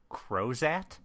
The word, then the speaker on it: Crozat: and have you explain what a crow's at is okay am I saying it right yes yes you are okay uh so a croset is a light wire